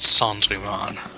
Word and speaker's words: Cendrillon: It's pronounced Cendrillon. Are we going with like the French pronunciation? Yes, it's from Cendrillon.